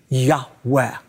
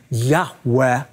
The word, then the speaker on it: Yahweh: on God's covenant name which we believe is pronounced a breathy Yahweh in the book of